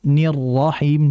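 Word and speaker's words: الرحيم: di situ ada unsur nabr nabr itu adalah hentakan sehingga dijelaskan getaran serta hentakan rnya Bismillahirrahmanirrahim nirrahim jadi jangan Bismillahirrahmanirrahim ah itu datar sehingga dihentakkan sedikit bismillahirrahmanirahim dihentak namun hati-hati pada getarannya ya khawatir kalau terlalu menghentak getaran pun terlalu banyak kemudian berikutnya ee pada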